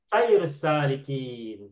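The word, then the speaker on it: سير السالكين: Sayur salikin. Saya lah, maknanya saya baris atas.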